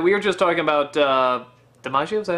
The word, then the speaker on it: DiMaggio: And, I also like the fact, too, that the voice actors in this one, like, we were just talking about, DiMaggio, is that how you say his name?